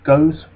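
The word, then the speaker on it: Gosse: Now we've got this chap here called Philip, I think that's pronounced Goes, but he was a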